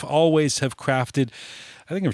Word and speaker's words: Alvvays: haze the they're the band called always this is always spelt with two v's rather than a w by the way and while they're based